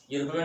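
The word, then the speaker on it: European: भी वही कंडीशन है, उच्चारण करने पर यूरोपियन वाई यू की आवाज़ आती है।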